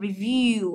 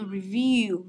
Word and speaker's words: review: Thế còn review, âm thứ hai, các bạn nhớ nhá. Review, review, âm thứ hai, nhớ chưa?